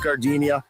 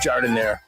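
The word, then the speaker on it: giardiniera: Don't call it Gardinia. It's pronounced jardinire.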